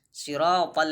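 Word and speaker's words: صراط: Sirata. Nah, jadi harus sempurna pengucapan si. Jadi sirata, huruf ta, huruf tebal.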